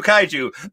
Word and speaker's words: Kaiju: pronunciation guide for their name thank you Kaiju Kaiju Kaiju that is how it's pronounced yay Godzilla uh and then um and